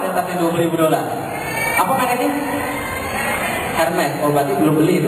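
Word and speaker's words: Hermès: saya tahu ada tas yang 20.000 Apa mereknya Hermes Oh berarti belum beli itu berarti Kenapa bacanya bukan begitu Itu makrotnya salahnya salah berarti Berarti enggak tahu masih pakai barang KW B bacanya Armi bukan am arm itu bahasa loh Kok bahasanya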